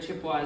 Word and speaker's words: Chippewa: So it's kind of, but yeah, the word Chippewa is the one that's the English mispronunciation.